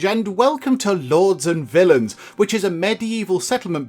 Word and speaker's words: villein: but this is a different sort of villain this is pronounced the same and i did look this up on the internet obviously but this villain actually is a medieval